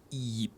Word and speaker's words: Yip: Sixth tone, lowest tone, yip. All right, there's a Y sound in there.